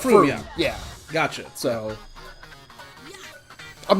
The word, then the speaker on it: Frome: Okay, in my defense, I watched an interesting video the other day about the English city of Frome, which is spelled Frome, and it's pronounced Frome.